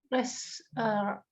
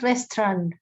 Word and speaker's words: restaurant: Restaurant. Sorry. Restaurant. Restaurant. There you go. Okay, so Kincaid's restaurant. Kincaid restaurant. Restaurant. Restaurant. Yes, there you go. Yes. Just okay. So the A and U is silent.